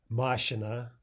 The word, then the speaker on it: машина: Машина, машина, that's the correct stress for car, and машина, машина.